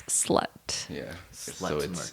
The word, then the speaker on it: SLXT: It's spelled SLXT, but it's slut.